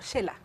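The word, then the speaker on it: Xela: Por ejemplo, Shela. Claro. Vamos a Shela y escribimos Shela con X. Ahí estamos usando el sonido de la X como SH.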